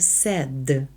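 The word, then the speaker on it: said: дпето ми вже запам'ятали що це слово читається сед Не дивлячись на те як ви хочете його прочитати і дав його йому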